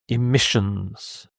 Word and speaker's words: emissions: much waste emissions emissions so the stress is here emissions these are gases or